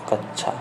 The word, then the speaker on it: कच्छा: कच्छा शब्द का शुद्ध उच्चारण हो जाएगा ऑप्शन नंबर सी, क प्लस आधा क प्लस सा, कच्छा।